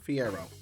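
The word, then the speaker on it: Fiyero: The transitions of Bach and Fiero. That's how you say his name. Fiero.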